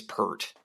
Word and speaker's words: Peart: it appeared I'm like I swear Rush drummer guy is pert that's the only way